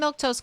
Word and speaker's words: Milquetoast: I'm Milktoast. That's how you say my name in case you were wondering.